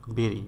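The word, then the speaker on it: bury: মানে নির্মাণ করা বেরি বি ইউ আর ওয়াই বাড়ি না কিন্তু বা বুড়িও না কিন্তু বেরি বি ইউ আর ওয়াই উচ্চারণ হবে বেরি বেরি মানে হলো কবর দেওয়া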